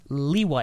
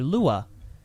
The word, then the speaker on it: Lewa: But anyway, we already have that precedent, and it's Lewa. It's not Leiwa or Loo-wuh. The precedent is what's written in the book.